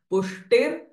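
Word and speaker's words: पुष्टिर्: श follow by विसर्ग बट विसर्ग इस गेटिंग फॉलो बाय पुष्टिही पो विसर्ग साउंड विल चेंज फ्रॉम ह टू फोष्टिफ पुष्टि मतिर ध्रुतिही दिस र साउंड पुष्टिर मतिर सो टेक इट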